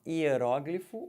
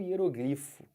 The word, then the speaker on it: hieróglifo: que tá ligado tá ó hieróglifo ou hieróglifo erógeno ou hieróglifa tanto faz pergaminhos antigos aquelas escritas